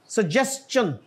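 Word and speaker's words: suggestion: जी आगे क्या है सजेन इट is just like क्वेश्चन क्वेश्चन को कोई मिस प्रोनाउंस नहीं करता और सजेन को कोई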